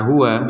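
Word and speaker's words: هُوَ: Agak kuat nafas berhenti di kata huwa, maka hu di sini yang awalnya hu ini nggak ada tanda panjang, maka kita panjangkan 2 harokat karena huruf terakhirnya adalah huruf wawu illahu.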